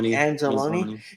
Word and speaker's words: Anzalone: Anzalone.